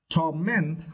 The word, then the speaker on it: torment: And for this word, you need to stress the second syllable, torment, okay.